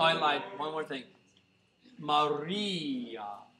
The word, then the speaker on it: Maria: Maria. The re of Maria is the most important syllable.